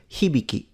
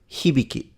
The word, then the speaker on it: Hibiki: His surname is pronounced Hibiki. Hibiki.